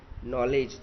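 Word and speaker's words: knowledge: नॉलेज तो लिखना है, नॉलेज के एन से शुरुआत करनी है, पूरा स्पेलिंग लिखना है लेकिन बोलेंगे हम नॉलेज। चॉक, एल लिखना है लेकिन बोलेंगे हम चॉक।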